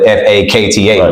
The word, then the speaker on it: Fakta: It's still Major, like Major, but I spell it different, right? Mayja, right? To have that unique flavor to it, as well as Factor. Instead of spelling it Factor, I spell it Fakta, right? So it sounds just exactly the way it's spelled.